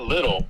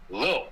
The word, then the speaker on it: Lil: It's not little. It's Lil.